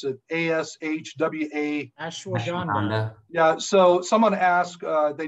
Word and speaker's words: Ashwagandha: I can't even pronounce it. A-S-H-W-A. Ashwagandha.